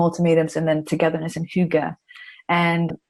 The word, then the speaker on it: hygge: It's spelled Hygge. It looks like Hygge, but it's really, you pronounce it. So how do you pronounce it for me again? Hygge.